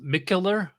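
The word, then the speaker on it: Mikkeller: of the beer mckel it's SP pronounced micher yeah Miga if you have to say it completely right because the founder is called Mig and then yeah he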